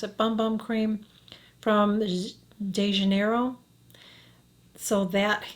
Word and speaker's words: Bum Bum Cream: example would be the i guess i just pronounced boom boom cream but i pronounce it bum bum cream from de janeiro so that i shared a